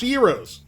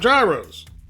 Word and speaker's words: gyros: not pho just like gyros are pronounced heroes not gyros let's all learn together